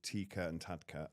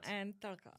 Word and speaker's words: Tikka and Tadka: Um Roshni, you run a company called TeakernTadka, and I've probably pronounced it right wrong, not right. TeakernTadka. Thank you. She says it a lot better than I do, and I'm so sorry.